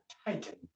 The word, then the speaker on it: Titan: maybe as t attend it's pronounced tighten this one I'm actually